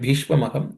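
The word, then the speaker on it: भीष्म: The word B in the word in the word Bishma the word the letter B is aspirated because it's the fourth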